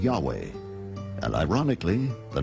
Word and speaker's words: Yahweh: Yahweh was named Jay because early European translators were ignorant of the correct pronunciation of Hebrew names many inadvertently referred to the name of God as Jehovah instead of Yahweh and ironically the name